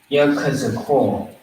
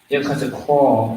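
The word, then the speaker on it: יחזקאל: How do you pronounce it? It's a pretty, it's it's a tongue twister, pretty much, all right? Yakazakor. Yakazakor is how you say it fast.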